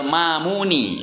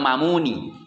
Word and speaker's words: Ma'muni: Nah, wal Mamuni, itu bacanya kalau nadzaman bacanya wal Mamuni. Ya, wal Mamuni. Lil-Lu'lu'i wal Mamuni nisbatan gitu. Tapi tulisan aslinya wal Ma'muni. Meskipun kalau dibaca wal Ma'muni juga bisa ya.